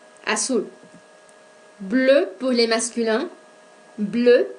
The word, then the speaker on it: bleue: Bleu pour les masculins, bleu pour les féminins. Prononciation identique.